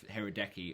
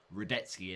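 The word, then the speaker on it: Hradecky: And let's also hope next week we make a few better decisions, because, of course, that benching of Hirodeki, or Radetzky as it's actually pronounced, really did hurt me.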